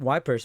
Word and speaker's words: Ypres: Dubbed Wipers by British troops due to its difficult pronunciation.